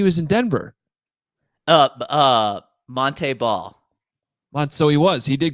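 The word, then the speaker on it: Montee: was his senior year he's like no actually my name's Monte Monte ball you guys are pronouncing it wrong this entire time and I'm like well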